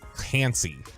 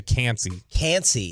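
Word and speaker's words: Kancey: Eagles Take defensive tackle out of pit kalijah can't see and how do you say the last name Elijah can't see k-a-n-c-e-y okay I would if you've got Bijan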